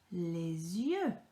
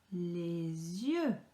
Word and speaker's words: les yeux: So E and a U together makes a sound. A sound. Just imagine that you are sticking out your tongue and then saying that you don't like something.